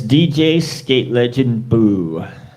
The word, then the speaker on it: DJ Skate Legend Boo: How you say it? It's DJ Skate Legend Boo.